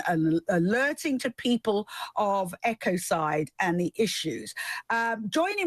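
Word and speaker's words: ecocide: to pronounce it and I'd always said EOS side and it said Echo side so I'm sure it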